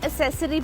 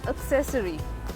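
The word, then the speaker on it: accessory: बहुत सारे लोग इस वर्ड को असेसरी पढ़ते हैं। लेकिन ये असेसरी नहीं होता। यह एक्सेसरी भी नहीं होता। A double C E double S ओ आर वाई इज एक्सेसरी। एक्सेसरी the stresses on the letter half of the word it's एक्सेसरी।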